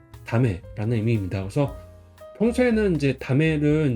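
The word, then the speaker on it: 駄目: 그래서 이것도 발음이 다메라는 의미입니다.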